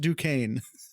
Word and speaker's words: Duquesne: I've lived close enough to Pittsburgh to know that is pronounced Duquesne.